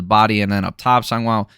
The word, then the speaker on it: Sangiao: Sangwo, I think is how you pronounce it, landing a spinning back fist, rocking Baatarkhuu.